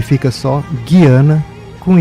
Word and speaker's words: Guiana: Então popularizou-se e é correto falar Guiana, mas na hora que escreve é com Y, não com I, né? Ou então simplesmente Gaiana, que é o termo em inglês.